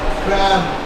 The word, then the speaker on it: cramp: Cramp. What do you call this? Cramp. Oh, I got a cramp. I got a cramp. C-R-A-M-P. Cramp. Come on. P is silent in cramp.